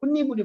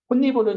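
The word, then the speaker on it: 홑이불: 혼니불은 여러분들 여름 이불을 혼니불이라고 얘기를 해요. 얇은 이불. 자, 그러면 여기는 톳 플러스 이불이죠. 발음 어떻게 나니? 혼니불. 이게 발음이거든.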